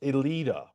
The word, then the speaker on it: Elita: It's pronounced Elita. Bite me. All right. Well, I won't bite you, nor will I bite her, nor will I bite this. I thought it was Alita one, not Alita bite me.